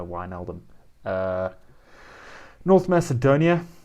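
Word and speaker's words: Wijnaldum: thunderbike sorry thunderbake uh georgina wyneldom is johnny georgina wine eldon uh north macedonia not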